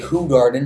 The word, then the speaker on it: Hoegaarden: the whole garden or the Hoegaarden as I should be pronouncing it but that's I mean